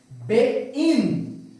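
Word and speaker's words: בין: Beit, tá aqui, ó, o B no português. Aqui a nossa vogal E, aqui o Y ok? Que tem o som de I, e aqui o nun final. Como que você vai pronunciar isso aqui? Você vai pronunciar bein, bein, bein.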